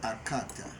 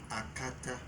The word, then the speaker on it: Akata: You see, you didn't say it right first. Okay. You said Akata. Okay. It's actually Akata. Akata.